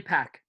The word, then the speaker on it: Pech: understand conversions david yeah is it pronounced patcher peck oh definitely pack wow i think you're